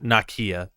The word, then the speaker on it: Nakia: name what's her name nakia nakia okay yeah nakia okay like it's like nicki but like a little different it's like a fun